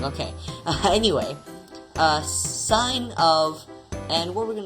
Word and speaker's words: sine: it looks like that it's not sin guys it's sign stop pronouncing it wrong okay anyway uh sine of and what we're